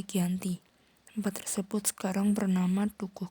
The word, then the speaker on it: Giyanti: Nama Giyanti diambil dari lokasi penandatanganan perjanjian, yakni Desa Janti, yang dalam pelafalan Belanda tertulis Lianti, namun dibaca Giyanti.